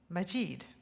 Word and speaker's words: Majid: is silent aspha and the i in her last name is e Majid it is a great pleasure to Welcome asva majeed to the podium